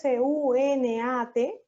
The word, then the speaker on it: SUNAT: ¿Yo acaso digo SUNAT? No. ¿Cómo las pronuncio? Como si fueran sílabas.